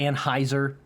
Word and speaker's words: Anheuser: People say Anheuser. There's no way in German to pronounce that as Anheuser. I would say Anheuser. If I was trying to pronounce it like German, Anheuser-Busch. Anheuser.